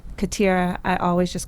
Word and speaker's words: Khatira: So they were like, "You're gonna be Khatira." I was like, "Cool, I'll be Khatira." Oh, but that's not how it's pronounced. The way it's pronounced is Khatira. So it's Khatira.